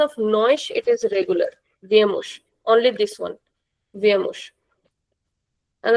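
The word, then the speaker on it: vêm: Accento circunflexo. Você ele ela vê. With the conjugation of nós, it is regular. Vemos.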